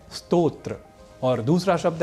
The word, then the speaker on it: स्तोत्र: तो पहला शब्द है स्तोत्र और दूसरा शब्द है स्रोत यहां स्तोत्र को सामान्य रूप से स्रोत बोलना अथवा लिखना अशुद्ध है क्योंकि स्तोत्र और स्रोत